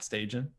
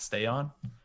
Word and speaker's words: Stajan: So Matt Stajan, as they like to call him in the old NHL games, Matt Stay On. Yeah, I think it's Gary Thorne, or is that Jim Houston's pronunciation? I think. Yeah, I'm not sure, but it always bothered me quite a bit.